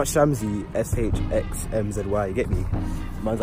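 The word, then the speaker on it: Shxmzy: It's pronounced Shamsy, S-H-X-M-Z-Y, you get me?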